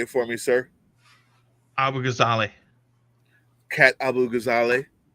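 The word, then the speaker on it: Abu-Ghazaleh: Abu Ghazali.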